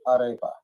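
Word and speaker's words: arepa: And it was pronounced Aarea in Venezuela. So, I can't roll my Rs. I am born and raised in America. I lost the ability to roll my Rs. But they pronounced it aripa.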